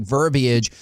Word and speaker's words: verbiage: not knowing the specific verbiage? Do you think they're already working on that? And extra syllable in that verbiage. Yes. Verbiage. I like it.